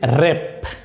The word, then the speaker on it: wrap: প্রথম শব্দটি হচ্ছে র্যাপ, WRAP, র্যাপ।